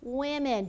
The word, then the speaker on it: women: All right, woman becomes women. Be careful how you pronounce this. It sounds like an I here.